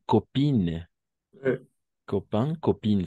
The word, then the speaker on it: copine: Se escriben A-I-N, ¿no? Pero gracias a causa de esa E al final, tiene un efecto retroactivo, si vale el término, y va a hacer que pronunciemos como in, ¿no? Y el otro on, ¿sí?